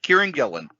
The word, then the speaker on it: Kieran Gillen: on oh how do you say the Creator Kiran Gillen yep Kieran Gillen Stephanie Haas the creative Duo behind image comic